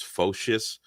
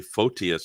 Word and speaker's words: Photius: both i've heard um i've heard some greek orthodox people say it's fascist um but uh for the life of me i did i mean i've heard other experts say photius so i just go with photias to be because that seems to be the the norm um but i hear focus sometimes you know yeah i know james lacuda says focus and he's greek yeah